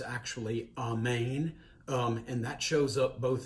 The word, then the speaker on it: amen: it really gets interesting the word amen actually correctly pronounced amane both in hebrew and in greek seems to it could